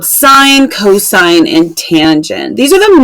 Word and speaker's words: cos: just si N and then cosine we just write cos but we say that cosine and then tangent same